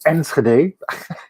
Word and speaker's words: Enschede: called it it now now we're going to the pronounced dutch words enschede like like gerard yeah yeah we have some some harsh g's and rs in our uh language but uh this one